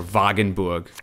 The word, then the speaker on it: Wagenburg: So we need to get good cards here, and maybe mulligan stuff like Wagenburg. Or Wagenburg, as you would pronounce it correctly, obviously.